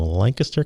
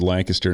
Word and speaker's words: Lancaster: Brandon Martin, President and CEO of American Music Theater, all the way from Lancaster County.